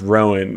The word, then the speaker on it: Rohan: hello I'm Stephen yeah Rohan they pronounced Rowan which is okay yeah